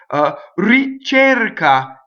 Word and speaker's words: ricerca: Ricerca, right? So it's a. Ricerca, right? It doesn't rhyme with chair. Chair, no, not chair, right?